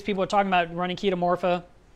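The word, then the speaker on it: Chaetomorpha: are talking about running kita Morpha which is spelled like cheetah morpha and they would say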